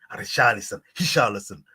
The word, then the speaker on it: Richarlison: Richarlison. Don't pronounce the R.